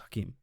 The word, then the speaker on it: Hakim: this video by hakim why did i say his name like that it's just hakeem what why did i say it like that just hakeem hakeem's video and capitalism